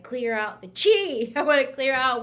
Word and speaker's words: Qi: take a hit so this energy is called Chi it's it's um pronounced Chi but it's spelled Qi Chi so it's believed the